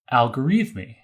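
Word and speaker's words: al-Khwarizmi: Uzbekistan today called hiva so in English we pronounce this algorithmi so this medieval Persian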